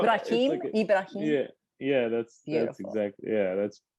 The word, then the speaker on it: Ibrahim: no, it's Ibrahim, okay.